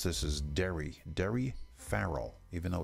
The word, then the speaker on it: Daoiri: is uh I was told the way to pronounce this is dairy dairy Farrell even though it's built d-a-d-a-o-d-a-o-i-r-i Dairy